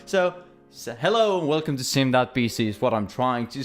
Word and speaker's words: sim.bc: Welcome to my channel and welcome to sim.bc. Not simbc, as I've heard some say. Not simbc, not sim.c. It's sim.bc. And yeah, that's totally how you say it, even though some